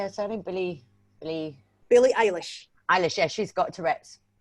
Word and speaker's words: Eilish: Billie Eilish.